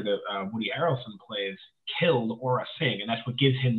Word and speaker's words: Aura Sing: I believe, I don't know how to pronounce her first name, Aura? It's Aura Singh.